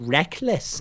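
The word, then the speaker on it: Rekkles: Rec so people always say ah but he pronounces it Reckless even though it would never be spelled that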